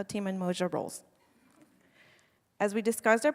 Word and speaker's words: Umoja: So it's not Umoja, and it's not Umoja. Close. So the word is actually Umoja.